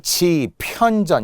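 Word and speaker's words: 집현전: 자, 발음은 분명 지편전 이렇게 발음이 나겠죠? 그러나 로마자는 지편전으로 쓰면 안 된다는 거고요.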